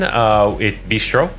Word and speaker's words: bistrot: And then bistro or bistrot. I don't know. There's Bistro. a T. Bistro. Okay. There's a T at the end of this. Yeah, but you don't, spelling, it's silent.